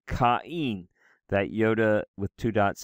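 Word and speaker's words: Κάϊν: So this name, the name of, we would say the name Cain, but in Greek it's pronounced Kain, right? Kain.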